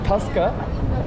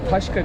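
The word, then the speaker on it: tasca: an taşya gidiyoruz hakikaten normalde taska ama taşka diye okunuyor taşka bunların gittiği taverna filan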